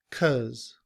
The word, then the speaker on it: 'cause: However, in reduced form, we don't say because. It's reduced to 'cause. 'Cause.